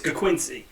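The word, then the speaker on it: Ga'Quincy: Mo Robinson koola mck's name is is gaquincy it says g a apostrophe Quincy it's Quincy apostrophe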